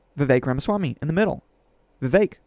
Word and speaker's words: Vivek: Vivek, which rhymes with cake, but also with snake. Take your pick, pick your poison.